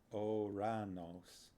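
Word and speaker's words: Ouranos: In Greek, it's actually more like Oranos.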